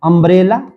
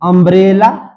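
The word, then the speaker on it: umbrella: तो यू एम बी आर E double L ए। तो इसका उच्चारण क्या बोलते हैं? अंब्रेला। क्या बोलते हैं? अंब्रेला।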